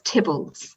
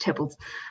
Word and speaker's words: Theobalds: I'd like the ceiling from William Cecil's house, Tybbalds, which is spelled Theobalds, but it's pronounced Tybbalds.